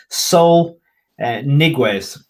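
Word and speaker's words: Saúl Ñíguez: heading for the premier league and that soul pronounce it right sol niguez he's the guy from athletico he's he started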